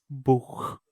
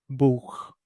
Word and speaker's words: Buch: So if I search for book, it is showing me Buch, Buch.